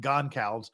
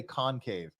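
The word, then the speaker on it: Goncalves: not how life works I know it's pronounced gone cows but I just can't do it my tongue just wants to say concave but that's just me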